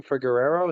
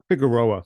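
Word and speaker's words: Figueroa: fought what's his name ferero is that you pronounced that guy's last name um figeroa and I know figeroa I'm sorry thank you and I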